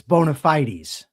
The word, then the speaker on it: bona fide: The stress is on FYE, bona fide.